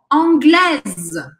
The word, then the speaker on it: anglaise: Anglais, não falo S. Anglaise. Não pronuncio o E, mas o S é pronunciado.